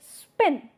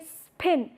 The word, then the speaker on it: spin: put up with aspiration however when the spa comes in between the word in between the syllable then it is no more aspirated it you would say spin spin you won't say spin that would not suit the rhythm of the language now let us in